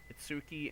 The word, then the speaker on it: Itsuki: If we hadn't run away, Itsuki and the others didn't have to be I've been pronouncing it wrong. It's Itsuki and Mitsuki.